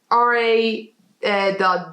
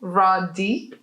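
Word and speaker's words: Ra.D: would but it's called look at the dots so you need like a small pause you know raw d i mean no take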